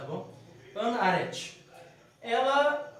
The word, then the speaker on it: Arendt: Hoje nós vamos ver o pensamento de Hannah Arendt. Acho que é esse, assim mesmo pronuncia o nome dela. Eu sempre tenho dificuldade, que ela é judia, Arendt. Em hebraico é mais um Haret. Só que trazendo para o português, acho que é Arendt, tá bom?